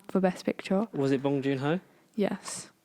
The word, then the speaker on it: Bong Joon-ho: Was it Bong Joon-ho? Yes. How did you spell it? Bong as in smoke it, and then June without an E, and then Ho as in Santa.